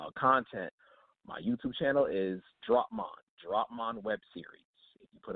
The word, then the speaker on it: Dropmon: So you yeah, said Dropmon. I'm actually on YouTube. It's spelled DROPMAN.